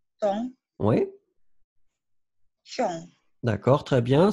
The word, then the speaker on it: sans: Alors, le S final, you don't pronounce the final S in that case. Sans. Sans.